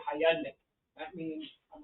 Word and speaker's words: Hyundai: Hyundai is like Sunday."